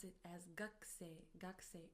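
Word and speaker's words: 学生: Although we write it as gakusei, we pronounce it as gakusei, gakusei, as if the u from ku disappears.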